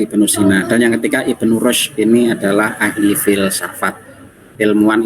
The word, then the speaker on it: Ibnu Rushd: Oke, Lutfi Ulansari, Ibnu Rushd, ya, Ibnu Rushd bacanya.